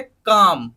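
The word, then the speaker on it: calm: बोलते हैं सेकंड देखिए कम का ल एम ल को हटा दिया यहां पे साइलेंट कर दिया हमने बोलते टाइम तो क्या बना ये सी ए एम कम बना के कम का मतलब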